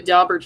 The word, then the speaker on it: Daubert: And they also had How do you pronounce this? Is it Is it um Daubert Daubert Yeah, Daubert.